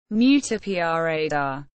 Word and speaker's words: Miuccia Prada: Miuccia Prada, Italian pronunciation, Miuccia Prada.